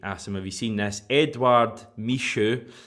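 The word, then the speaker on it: Edouard Michut: Edouard Michaud, which I think is how you pronounce it, the emphasis there on the Edouard bit.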